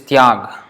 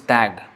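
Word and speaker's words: ত্যাগ: The ya sound actually in the pure form it is tyag, like in Hindi tyag, but mostly in Bengali it is pronounced as tag. So it becomes like that. It's like tag, but the T is like teeth. Oh. Like teeth, the TH in teeth.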